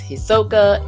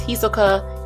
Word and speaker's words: Hisoka: Oh, and for context, you and I know we differ on the way we pronounce this character's name. It's Hisoka, it's Hisoka, it's Hisaka, it's whatever your pleasure is.